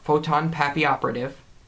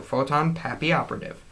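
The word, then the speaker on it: Photon Papilloperative: have trouble pronouncing it just sound it photon happy operative it's a y instead of two l's because it's french a papillon is a butterfly in french or something like that i don't know i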